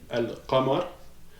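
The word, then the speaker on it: القمر: Donc, ça va être les lettres justement que on va prononcer le L. Parce que les lettres solaires, on ne les prononçait pas, on dédouble. Maintenant, avec les lettres lunaires, on va le prononcer justement, ok?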